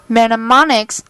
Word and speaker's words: mnemonics: Mnemonics, the initial M is silent, are clues of any